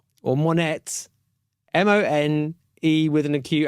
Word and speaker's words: Monét: Right, let's try and pronounce this one correctly. Victoria Monét, or Monét, M-O-N-E with an acute accent, T.